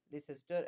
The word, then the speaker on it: Leicester: It may seem pointless, but Leicester actually has two syllables.